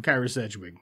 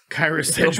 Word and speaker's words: Kyra Sedgwick: Kyra Sedgwick. Her. I didn't pronounce it right. Kyra Sedgwick.